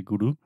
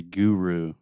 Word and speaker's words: guru: If you say guru, we say guru.